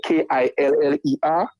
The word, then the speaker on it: Killa: that name killer yes it's not spell k-i-l-l-e-r but from the way we speak right from the way we speak we pronounce it killer right and I think